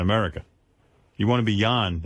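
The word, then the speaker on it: Jon: It's pronounced Yan. Yan.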